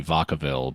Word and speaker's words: Vacaville: well it I mean it's it's Spanish but so it'd be Vacaville but yeah you know you got anglos out here pronouncing it so who knows is that like Cowtown